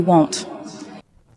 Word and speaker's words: won't: The won't is a long O as in go. You won't. And even though we don't hear the T very clearly, it is there.